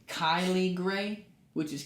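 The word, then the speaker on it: Kylee: toad it was a big cane toad right Kaylee said that this is pronounced Kylie gray which is k yle e e Kaylie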